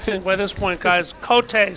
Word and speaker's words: Cote: Cote, C-O-T-E, K-O-T-A-Y.